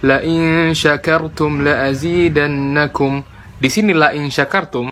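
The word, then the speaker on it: شكرتم: Ibrahim ayat 7 Lai syakirtum laazidannakum di sinilah insya kartun kalau orang baca Shin enggak jelas malah jadi Sin jadi la-in Sakaratul Bukan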